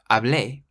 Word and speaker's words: hablé: Hablé means I spoke. So the accent on the E means you stress that last part of the verb, hablé.